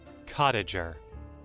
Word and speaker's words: cottager: Cottager. Cottager. It's cottager, you fool! That was a hard G. No, like J-Jer. Is that the soft G?